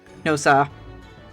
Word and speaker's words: Nosa: So his last name should probably be pronounced like No Sir. Nosa.